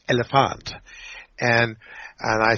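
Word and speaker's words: Elliphant: rapper from Sweden and her name is elephant and that's how you're supposed to pronounce it it's elephant and and I said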